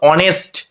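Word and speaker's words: honest: দেখো এটা উচ্চারণ করা অনেস্ট এটা কিন্তু হনেস্ট উচ্চারণ হচ্ছে না কি উচ্চারণ হচ্ছে আগে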